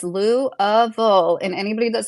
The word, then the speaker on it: Louisville: It's Louville.